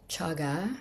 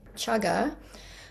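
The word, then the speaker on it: cāga: Donna as generosity uh the better word for it in Pali is chaga c a long a g a chaga.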